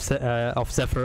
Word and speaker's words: Zephyr: People are still mocking your pronunciation of Zephyr a bit, as we have both been pronouncing it wrong at the beginning.